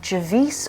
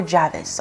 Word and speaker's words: Javice: a hat meet Charlie javice or Javis I've heard her name being pronounced in both ways a woman now in